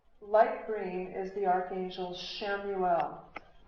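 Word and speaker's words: Chamuel: Light green is the archangel Shamuel. Shamuel's name is spelled C H A M U L.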